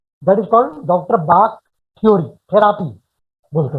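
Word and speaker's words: Bach: वो लिखेंगे बाक, सॉरी, बोलते हैं बाक और लिखते हैं कुछ और, है ना, ठीक है। लेकिन प्रोनाउंस किया जाता है डॉक्टर बाक।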